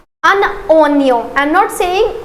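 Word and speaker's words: un oignon: next we have अननियम I know the pronunciation here is little difficult but always remember that what we are doing here in order to pronounce it correctly we are actually do doing a लीयज़र here between एन एंड ओ सो आई am connecting this एन with O अन ओन ओनियो आई एम not saying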